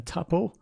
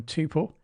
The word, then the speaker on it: tuple: data types a list a tuple or a tuple it's up to you how you want to pronounce that dictionaries and set in